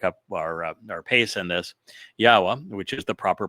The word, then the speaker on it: Yahweh: Yahweh, which is the proper pronunciation of the name of God, as directed by his Torah teaching regarding his Haya existence.